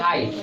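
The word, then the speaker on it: high: देखो एच आई जी एच तो इसको पढ़ तो रहे हैं हाय तो इसमें कौन सा लेटर साइलेंट है जी एच के उच्चारण नहीं कर रहे है इसका अर्थ हुआ वो यहां साइलेंट है तो यहीं तक पढ़ रहे हैं हाई ठीक है तो इसका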